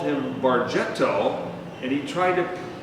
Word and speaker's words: Bargetto: Bargetto, your name is pronounced Bargetto." And so we finally got to the proper pronunciation, and this accent over here was trying to help Americans pronounce it correctly.